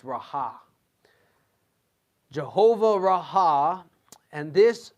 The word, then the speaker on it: Rohi: It's spelled R-O-H-I. I thought it was pronounced Rohi or Rahi, but it's Raha.